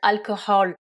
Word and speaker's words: alcohol: donne drunk et donc alcohol je précise qu'en anglais vous avez un H entre les deux euh e et vous le prononcez le H c'est indénombrable c'est la